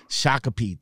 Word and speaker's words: Shakopee: I can't pronounce the name. Shakopee.